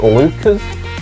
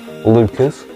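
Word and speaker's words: Leuchars: uk we start with lucas that's how you pronounce it by the way lucas not lucha's or whatever you want to pronounce it lucas we have leaning then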